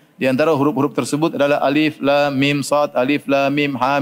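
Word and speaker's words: الم: Alif lam mim jangan dibaca alam, ya.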